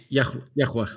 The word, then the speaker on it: Yahweh: Like, what is the sound that God gave in order to pronounce his name? I am YWE or something along those lines. Yahweh.